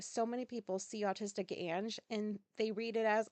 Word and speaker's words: Ange: Um, I'm learning recently that people see autistic Ange, A-N-G, and they pronounce it Ang. Did I say this before? I think I probably did. Well, there's still people doing it. It's autistic Ange, as in Angela.